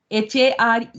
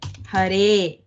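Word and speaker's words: हरे: So Hare is Hare. Yeah. Huh? Mm. Okay, not Hari. So if it is Hari, it will become He Hare.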